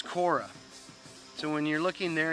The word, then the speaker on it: Korah: perished in the gang saying of corey says the new uh king james new testament but it's korra so when you're looking